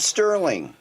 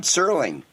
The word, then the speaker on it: Serling: for Christmas Day 1924 rod sterling or sterling I'm sorry the T is silent rod serling writer and host of